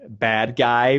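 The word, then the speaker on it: Badguy: a funny name like bad guy but he's like it's pronounced bad g i'm not the bad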